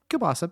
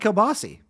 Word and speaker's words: kielbasa: How do you say kielbasa in Polish? She goes, kielbasa, basically. I'm like, then why do you call it kielbasi?